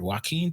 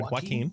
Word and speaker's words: Joaquin: Joaquin, how you pronounce that word? Joaquin Torres? You're good. You're good. Joaquin.